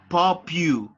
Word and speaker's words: popular: Remember that the pronunciation for this adjective is popular.